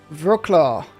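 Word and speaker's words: Wrocław: Wroclaw. Wroclaw. Ah, now how do you say... Oh, the W is like a V, isn't it? And it's like clov at the end. So it's like... Wroclaw?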